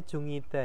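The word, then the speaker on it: 중이다: Bacanya Jungida ya. Oh, jungida, Mm-mm. jungida. Oh iya, jongita ya. Jungida. Jongita artinya sedang.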